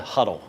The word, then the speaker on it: Hudl: It's called Huddle. HUDL. I And think the is how schools you will pronounce it.